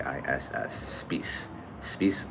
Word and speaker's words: Speiss: Oh, so it's actually pronounced uh space s p e i ss. Spece space like grease.